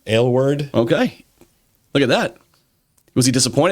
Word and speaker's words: Aylward: Aylward.